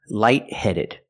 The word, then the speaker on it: lightheaded: The T in light is a stop T, light-headed. You put the tongue up to stop the air, but you don't release the T.